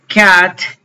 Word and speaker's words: cat: Eh, cat. Esta es la palabra que les digo que esta pronunciación suena, no digo cat con la abierta, sino con a y e, como si me fuera a reír.